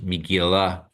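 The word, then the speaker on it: מגילה: I mean, so that schwa for Miguela should probably be pronounced because it's the word that we're talking is Miguela.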